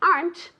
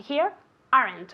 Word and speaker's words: aren't: And remember also that the pronunciation of the verb to be in the negative, aren't, is one syllable. I never, ever, ever, ever want to hear aren't, okay?